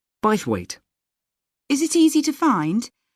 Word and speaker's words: Bythwaite: being held in bythwaite Hall sorry how'd you spell that b y t h w a i t e bite weight is it easy to find I'm not very